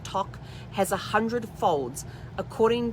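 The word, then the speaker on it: toque: they wear which is called a um toc t-o-q-u-e it's pronounced tock has a hundred folds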